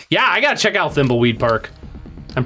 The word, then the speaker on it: Thimbleweed: Yeah, I gotta check out Thimbleweed Park. I'm pronouncing that right?